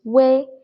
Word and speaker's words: 微: about 微 So here, this EI together is pronounced as A, and here actually UEI together is way. However, UEI is its exact pronunciation, but while writing, this UI is the only correct writing form. So when you see UI, you should know that it is actually UEI, which is way, but we just don't write the E out.